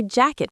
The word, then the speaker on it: jacket: In American English, that T in jacket often becomes a stop T. Jacket, jacket. So when we say it quickly, jacket pocket, it almost sounds like jack-a-pocket.